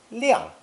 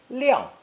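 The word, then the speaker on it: 晾: the sun radical and pronounced fourth tone liang liang it means to drive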